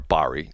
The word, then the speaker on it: Bari: A, they wanted Bari, or Bari. Her name's pronounced 2 different ways.